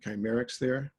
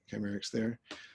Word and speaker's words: Kcymaerxthaere: It says how you pronounce it, Kcymaerxthaere. And I guess we can have a Zoom-wide agreement that that's how you say it, Kcymaerxthaere.